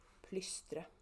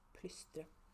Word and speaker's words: Plystre: And it's pronounced plystre. Just so you know, it's plystre.